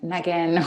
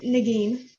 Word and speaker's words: Nagin: Any of the other panelists, Kim or Megan, and I'm sorry, I actually don't know how to pronounce whether it's Nagin or Negan or so please chime in and correct me. It's Nagin.